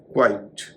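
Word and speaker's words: quite: लोग क्वेरी या क्यूरी कहते हैं इसका सही उच्चारण है क्वेरी क्वाइट क्यू यू आई टी ई और क्यू यू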